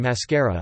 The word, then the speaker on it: màskara: Examples are short falling as in nebo, sky, nebo, long falling as in pivo, beer, pi circumflex vo, short rising as in mascara, eye makeup, mascara, long rising as in cocolata, chocolate, tea, oko el da.